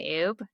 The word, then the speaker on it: Oubre: say are are ub. And then obviously it as you'll see in the description B. Yes. Does not sound the way it's like it's spelled but yeah.